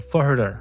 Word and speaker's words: Führer: Di tahun 1913, dia itu bukan seorang Führer atau Führer ya cara bacanya, atau pemimpin tertinggi di Jerman, seorang seniman gagal yang gagal masuk sekolah seni.